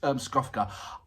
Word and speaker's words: Skofka: I keep on getting Skofka. There you go. Skofka. There you go. I'm getting it right. And apologies, Skofka.